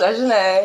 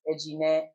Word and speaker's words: Ejine: Technically, my name is actually pronounced Ejine, but I actually go by Ejine just to make it easier on the Westerners and everybody because, well,